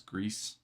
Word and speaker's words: Gris: It's like same makers as Gris.